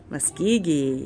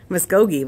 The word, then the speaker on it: Muskogee: Muskogee, yes. Muskogee.